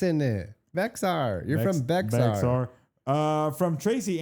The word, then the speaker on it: Bexar: Spelled With the X in it? Bexar. There's an X in it. Bexar.